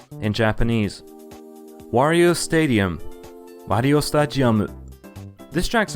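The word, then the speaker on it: スタジアム: Wario Stadium, Wario Stadium. This track's name didn't change much, but in Japanese, the word for stadium is pronounced as stadium, with a G sound instead of a D sound.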